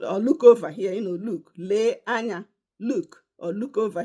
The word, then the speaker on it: le: The Igbo word for today is going to be le. Le means look. Le, I'll spell it in English. L-E-E. In Igbo, le, e.